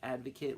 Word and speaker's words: ADVEKET: is at adve ket it's advocate 1 spelled phonetically used as a noun